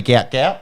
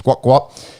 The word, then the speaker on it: Gout Gout: saying it right now spelled English phonetically gout gout and I think his dad come out and said it's guat guat anyways guat run 204